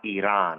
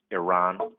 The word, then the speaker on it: Iran: So, you know, it's not Iran, right? It's Iran.